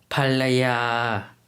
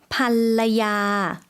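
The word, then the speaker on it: ภรรยา: ภ ร ร ย า 네, 발음이 조금 어려울 수도 있을 것 같은데요. 여성 발음으로도 한 번 더 들어볼게요. ภ ร ร ย า 반라야라고 발음해 주시면 되겠습니다.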